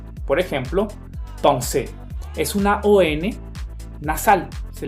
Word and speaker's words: pensée: Pues no, recuerden que la EN en una misma sílaba se va a pronunciar como una ON. Por ejemplo, pensée.